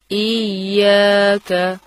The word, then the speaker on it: إياك: غلطی کا خاص خیال رکھیے۔ صحیح ادائیگی سنیے، ایاک، آپ بھی پڑھیے، ایاک، ایاک، إياك.